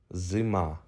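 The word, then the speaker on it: зима: of this letter group Z e m ah Zuma this word means winter in Ukrainian Zima well done we have just completed the third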